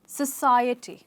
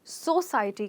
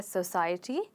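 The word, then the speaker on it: society: जाएगा सोसाइटी okay सोसाइटी और बहुत सारे स्टूडेंट्स इसको सो साटी कहते हैं जो कि वो अपना स्ट्रेस नहीं बदलते हैं और सो को सो ही कहते हैं पर एक्चुअली इस वर्ड में भी स्ट्रेस चेंज होके आय पर आ जाता है और यह बन जाता है सोसाइटी sorry we have सोशल एंड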